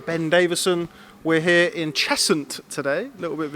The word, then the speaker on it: Cheshunt: We're here in Cheshunt today.